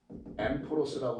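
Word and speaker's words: ἔμπορος: 그래서 이때 상이라고 쓰는 헬라어가 엠포로스예요. 엠포로스라고 발음합니다.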